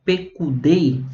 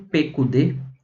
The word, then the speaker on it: Pekudei: E essa porção ela se chama Pekudei, né? Ou Pekudê, dependendo aí da pronúncia, tá?